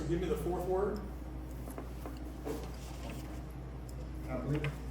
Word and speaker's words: hablé: Hablé. Hablé. Hablé. Hablé. So H is silent.